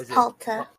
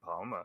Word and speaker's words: Palta: It's Palta. Palta, thank you, because I was saying that completely wrong the entire last session. I was saying Palma, so it's Palta, and then Palta well, you know what?